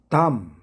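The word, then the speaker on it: dumb: 클라임 담 벙어리의 멍청한 이런 뜻이죠.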